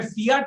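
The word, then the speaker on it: fiat: फियाट money, फियाट money मतलब कई लोग इसको यूके में मेरे ख्याल से प्रोनाउंसिएशन फिएट मनी बोलते हैं, अमेरिका में फियाट मनी बोलते हैं।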